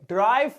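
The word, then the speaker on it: derive: आओ नेक्स्ट वाला देखिए, और भैया नेक्स्ट वाला है ड्राइव फ्रॉम। और जा ये ड्राइव नहीं है, स्पेलिंग देखो, डेराइव, डेराइव फ्रॉम, मतलब साउंड ये ड्राइव जैसा ही करता है।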